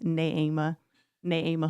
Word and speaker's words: Neema: Um I forgot to correct you pronounce my name is Na Na Ama.